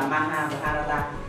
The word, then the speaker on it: Mahabharata: Một là Ramayana và thứ hai là Mahabharata. Chúng ta nên phát âm cho nó chuẩn ở chỗ này.